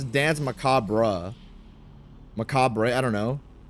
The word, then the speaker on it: macabre: bastards I said macabre how I saw it and then people were like macabra. I asked how do I pronounce it? This guy says macabra. Short a and short e. Macabra. I think that's how he's saying it. Also incorrect. It's macabra. Silent ru. The roar at the end is nearly silent.